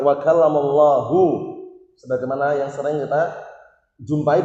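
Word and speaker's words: وَكَلَّمَ اللَّهُ: Ayat itu bacanya wa kallamallaha Musa taklima. Artinya Nabi Musa mengajak bicara Allah Subhanahu wa taala dengan sebenar-benar pembicaraan. Keliru enggak ini? Keliru. Yang tepat wa kallamallahu, sebagaimana yang sering kita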